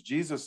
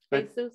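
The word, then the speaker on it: Jesús: But you know, people in Mexico, they name their child Jesus, but Jesus. Yeah, it's Jesus.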